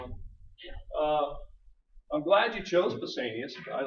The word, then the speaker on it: Pausanias: How do you pronounce his name again? Pausanias, yeah. Pausanias.